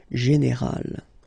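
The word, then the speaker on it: générale: Okay, but then phonetically it's quite interesting because you don't make any difference. You will get so général at the masculine form, and it will be exactly the same thing at the feminine form, général.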